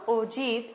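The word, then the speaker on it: ogive: type ठीक है नाउ the term ओजी is pronounced as ओजी एंड इज डिराइवर Oggy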